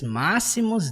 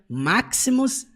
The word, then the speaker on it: Maximus: E aí ele diz máximos décimos merídios. É o jeito que a gente fala aqui no português, né? Você percebe que em inglês ele pronuncia máximus décimos meridias.